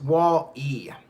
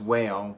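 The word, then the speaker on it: Wale: It's pronounced Wall-E. Okay, yeah, Wall-E, Whale. I always thought it was Whale, but whatever.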